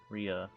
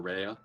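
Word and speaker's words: Rhea: oh Ria okay yeah that's always been a funny name to pronounce r h e a because both are like holy ways you can pronounce it whether you want to pronounce it r or Rea and it's not like one of them is it's not like one of them is truly the quote unquote correct way of pronouncing it which is what makes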